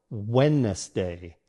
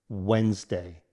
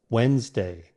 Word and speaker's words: Wednesday: it as it's spelled, Wednesday. However, in natural American English, it's pronounced with 2 syllables, Wednesday. Let's break it down. Wens sounds like wens as in lens. Day as in day. Combine them. Wednesday.